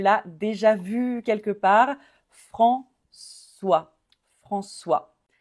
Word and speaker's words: François: quelque part François François le CCD comme dans ça va ça va parce que normalement C A C o C u se prononce K comme un K et on a mis la Sédille pour faire le son ça va François et s muet comme